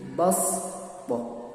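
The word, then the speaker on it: بسطة: Yang kedua basṭah, tulisannya shad tapi bacaannya wajib diganti dengan sin, jadi basṭah.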